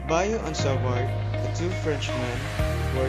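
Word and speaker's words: Biot–Savart: buy-offs of our law yes it is pronounced in french bayou on salvador the two frenchmen who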